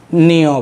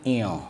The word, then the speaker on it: ঞ: তখন দেখা যায় ওরা নিয় বলে। নিয় নয়, এটা হচ্ছে ইয়। নাগের মধ্যে একটু টান দিতে হবে, ইয় নিয় নয়। শিক্ষার্থীরা প্রায় সময় দেখি উচ্চারণ করে নিয় বলে, তাহলে নিয় হবে না।